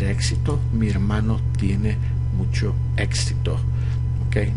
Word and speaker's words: éxito: mi hermano tiene mucho éxito. Okay, notice the accent of the word éxito. Entonces éxito, éxito. Okay, because the accent is on the E.